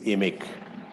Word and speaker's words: IMIC: just interrupt ebony sorry the pronunciation is emic okay good i leave you in that part of the world right um yes um amic is the indian mineral